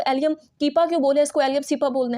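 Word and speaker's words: Allium cepa: भी बोल सकते हैं बट आई प्रेफर कि आप इसको एलियम सीपा ही बोलिएगा ठीक है इलियम सीपा एलियम सीपा इस तरीके से इसको आपने प्रोनाउंस करना है which is the scientific name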